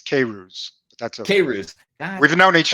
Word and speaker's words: Queyrouze: name crazy oh man we practiced this it's cavers that's serious we've known each other for yeah